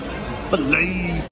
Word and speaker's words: filet: That's what filet. It says. Nah, filet. Filet. It's like Chick-fil-A.